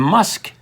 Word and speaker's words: Musch: my middle name and musk is spelled mu C but it said like a k yeah so Megan is